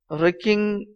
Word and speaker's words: wrecking: Martha, with wrecking, W is silent, okay, wrecking of the bank.